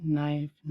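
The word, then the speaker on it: knife: के देखो ई पांचटा वार्ड देखो नो नी नाइफ नाइट न देखो फास्ट गोटे वार्ड आरंभ में के एन अच्छी से किए साइलेंट रोचे देख एवं ता सहित भावेल अच्छी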